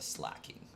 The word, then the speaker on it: Slaking: slacking off but I I cannot call it a slacking and I can't call it a slacko either like I know that's how it's pronounced and I know that's the intent behind it but I have to say a sloth vigoroth slay King even though I know